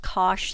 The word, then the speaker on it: cosh: the unit hyperbola that by the way is pronounced cosh theta and so it's going to be limited